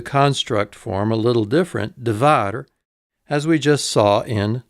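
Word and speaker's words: דָּבָר: It's got a kametz, da. There's the syllable division. A bait with no dagesh line, v, a kametz, a, and a resh, So it is da-var, da-var.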